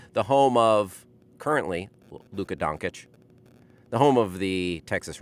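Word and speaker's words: Dončić: other doctors and participate in this show okay doncic doncic doncic luca doncic andy mclean corrected me on the pronunciation of the uh slavic phenomenon luka doncic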